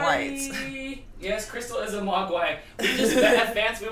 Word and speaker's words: Mogwai: And they called, is it a Magwai? And they go, Mogwai! Mogwai.